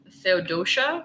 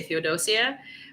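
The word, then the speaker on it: Feodosia: so I noticed that a lot of people in America uh pronounce fod doia as Theodosia or like Theodosia because it seems I mean it seems like kaposia and stuff like that it's it seems it seems intuitive but it's fod doia so I guess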